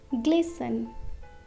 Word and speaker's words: glisten: Glisten, glisten.